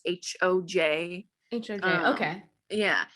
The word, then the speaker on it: Hoj: I've heard it's called Hay, but it's HOJ.